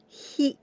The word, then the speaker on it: ひ: The second letter is this one, and we pronounce hi. Hi, H and I sound.